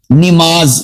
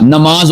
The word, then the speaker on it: نماز: کے نیچے زیر ہے۔ اسی طرح ہم بول دیتے ہیں نماز، نماز نہیں ہوتا، نماز ہوتا ہے، نون کے اوپر زبر ہے۔ ہم بول دیتے ہیں